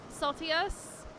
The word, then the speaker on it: Saltus: uh before I forget my name is pronounced like salty except it's with an e saltus saltus saltus that is